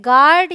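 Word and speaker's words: guard: टू क्या कहता है अगर यू जी और किसी वाउल के बीच में हो तो यू साइलेंट होता है तो देखिए जो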